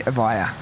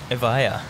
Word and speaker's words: Evija: It's called the Evija. Evija. That's Is that your best pronunciation?